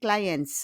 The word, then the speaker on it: clients: And then for plural, we just add S with client and cliente, but we don't pronounce le S. It's silent. Silent means muet. C'est silencieux. On n'entend pas. We don't hear the S.